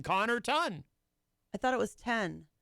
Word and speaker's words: Connarton: I mean, the first two syllables are Connor. So you just add the ton, Connarton.